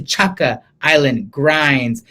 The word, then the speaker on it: Chaka Island Grinds: house shout out to chaka island grinds pronounced like chaka khan okay so i'll see